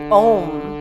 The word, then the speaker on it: Om: And the syllable for that is simply Om, but saving room. So if you're going to chant Om, chant the O and the M, because the O and